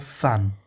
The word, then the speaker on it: femme: Aqui, é algo interessante, que a palavra, ao invés de você pronunciar femme, não, você vai pronunciar femme, tá? Pronúncia dessa palavrinha femme, quando você tem E, M, M, E, femme.